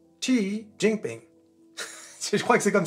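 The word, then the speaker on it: Jinping: laquelle le président Chi Oui, ça se prononce pas ou Z.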